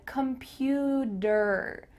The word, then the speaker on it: computer: Make sure that when you pronounce the word computer, you say D-E-R at the end.